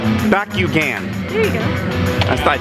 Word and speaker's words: Bakugan: It's pronounced Bakugan.